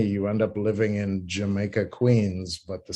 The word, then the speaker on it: Jamaica: mispronounced by the british yamaka is closer to the original pronunciation of the island of jamaica so if that's not